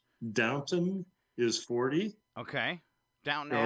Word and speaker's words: Downton: time on this so i'm going to try pronouncing it right downton is 40.